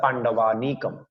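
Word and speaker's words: পাণ্ডবানীকম্: আর অন্য আরেকটা শব্দ দেখলে পাণ্ডবানিকং, বাংলাতে, সংস্কৃত শ্লোক উচ্চারণ আমাদের বলতে হবে পাণ্ডবানিকম। এইটুকু কে কে বুঝতে পেরেছেন?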